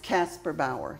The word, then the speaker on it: Kasperbauer: calls me and it's pronounced Casper Bower like Casper the ghost and Eddie Bower so